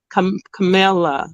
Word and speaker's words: Camilla: Camilla, right? Yep. Okay, that's the and first. Is it more? Boom. Yay. All right. Camila. Okay. I want to say Camila, but it's Camilla, right?